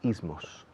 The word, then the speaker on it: ism: Fijaos que como en inglés decimos los ismos. Ism. Se escribe ISM, pero imaginad que hay una A en medio.